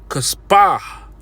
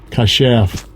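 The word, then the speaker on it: כָּשַׁף: So when we look up that word witch, it says Kaspah. Let's see, listen. Strong's H 3784. Kashaf. Okay, I pronounced it wrong, but that's neither here nor there.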